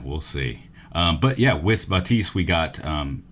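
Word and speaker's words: Baptiste: Batiste is how Jeff Kaplan pronounces it, but you go to every other streamer who's been practicing, everybody pronounces something different. We're going with Batiste. That's what his creator called him, so we're just going to stick with that.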